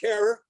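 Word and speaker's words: Herer: Todd Mikaria, Jack Herror, who always insisted that his name rhyme with terror.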